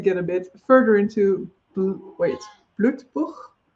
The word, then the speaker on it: Blutbuch: I'm going to try to get a bit further into Blutbuch. I'm pronouncing that in a German way, and I don't know whether that's intentional or not in the first print, but I will switch it.